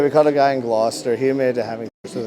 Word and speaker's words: Gloucester: Yeah, that's That's Gloucester.